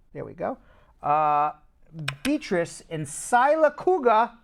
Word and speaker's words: Sylacauga: Beatrice in Sylacauga, Alabama. Did I pronounce that right? Sylacauga, Alabama? Yep.